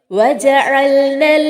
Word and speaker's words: وجعلنا: ഇവിടെയും വജഅൽന എന്നുള്ളതിലെ ഐനിന്റെ ഉച്ചാരണം പ്രത്യേകം ശ്രദ്ധിക്കണം. വജഅൽന എന്നതിലെ ന എന്ന ദീർഘം അവിടെ ചേർത്തോതുന്ന സമയത്ത് നഷ്ടപ്പെടുന്നു. ഇൽത്തിഖാഉ സാക്കിനൈൻ, രണ്ട് സുക്കൂനുകൾ അടുത്തു വരുന്ന അവസ്ഥ. ഈ അവസ്ഥ കാരണമാണ് അവിടെയുള്ള ദീർഘം നഷ്ടപ്പെടുന്നത്. വജഅൽനൻ നഹാറ, അവിടെ നൂൻ ശബ്ദോട് കൂടിയാണ് വന്നിട്ടുള്ളത്.